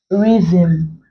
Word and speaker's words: rhythm: looked at words containing R and H where the H becomes silent and only the Earth sound is pronounced so here we have rhyme rhythm rhetoric or rhetorical rhetoric